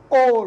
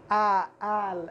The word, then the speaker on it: all: كلمة أيضا all، كل أو أو، شوف حتى لم أنطق رغم أنها في أول الكلمة ونطقتها all وليس آل، لا all كأنها واو.